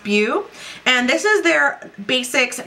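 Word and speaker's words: Bhu: It's spelled B-H-U. I believe it's pronounced Bhew.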